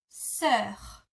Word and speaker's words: sœur: And for sister, which I know is a tricky word because it has that weird O and E that are attached, this is how you pronounce it. So my sister is ma sœur.